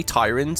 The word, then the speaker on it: Tiryns: us oh speaking of Tyran there it is I looked up how to pronounce this on Wiki by the way apparently Tyrant is also valid so we're Olympia here